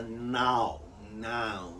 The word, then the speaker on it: Nau: So they develop ships that are more seaworthy, what is called the Nau, N-A-tittle-O. It's sort of pronounced like nano, but now.